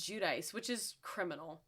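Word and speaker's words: Giudice: I think I think she says Judice, which is criminal. It's G I U D I C E. It looks like Ji. If you knew Italian, you would probably imagine it's Judy, but I'm pretty sure she says Judice.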